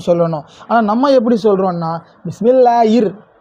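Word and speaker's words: بِسْمِ اللَّهِ: ஆனா நம்ம எப்படி சொல்றோம்னா பிஸ்மில்லாஹிர் ர் என்று சொல்றதுக்கு தவறான உச்சரிப்பா இருக்கு ஹிர் என்று சொல்லணும்.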